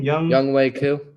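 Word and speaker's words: Younghoe Koo: Young Wei Koo.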